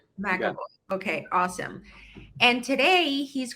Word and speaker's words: McAvoy: Is that how I pronounce it, Jeff? Yeah, McAvoy. McAvoy.